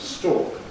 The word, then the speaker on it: stalk: And another word for stem of a flower or something is stalk. They are identical for me. They're homophones. Stalk. Stalk. But before the loss of R, they were distinct because one was stalk and one was stalk.